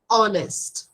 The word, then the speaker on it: honest: I was honest yes great very good always honest the pronunciation here is honest okay we do not yeah we do not